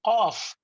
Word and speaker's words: Qaf: So in order for us to pronounce Qaf, we have to go and knock the door of the house where Qaf lives. If we knock the door of his neighbor, then Kaf will come out.